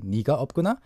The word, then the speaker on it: 내가 없구나: Depending on the person, some people pronounce it like in the textbook style, 내가 없구나. Or in colloquialism, people often more commonly say 네가 없구나.